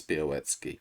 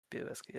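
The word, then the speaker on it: Białecki: So yeah, it's an L with a line through it, which is a W. Betski.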